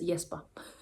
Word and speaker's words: Jesper: it's so weird cuz jper is actually a Danish name as well but we we pronounce it completely different so I'm never sure exactly how to pronounce it I read it as yesper cuz that's the way you would say it in Danish but saying it out loud is um feels wrong when I'm speaking English but whatever I'm not